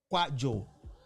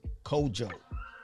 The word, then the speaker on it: Kojo: Some people might say pronounce it Kwajo, but my tribe pronounce it Kojo.